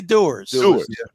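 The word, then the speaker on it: Dewar's: I'll give away he he pronounces it darar dar dar most people say doers but you know he's trying to be a you know what I mean French on he's trying to get fancy on us as it's going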